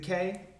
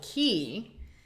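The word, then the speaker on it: Cay: us know is it Kay like hey I actually saw someone asked cruisetipstv and she linked an article from Royal Caribbean so the locals call it key which is correct because all the Bahama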